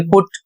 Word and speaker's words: put: यहां पर कुछ लोगों का प्रश्न आता है कि पी यू टी। इसको पढ़ते हैं पुट।